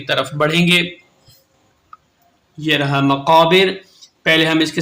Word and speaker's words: مقابر: بڑھیں گے۔ یہ رہا مقابر، پہلے ہم اس کے سپیلنگ کریں گے۔ میم زبر ما، قاف الف زبر قا، مقا، بازر بی، را زبر را، مقابر۔ وقف کریں گے تو